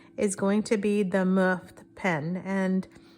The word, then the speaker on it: MUFT: And the first one is going to be the Muft pen, and this one is pronounced M-U-F-T, and it's their freebie, so we're gonna go easy and then go from there.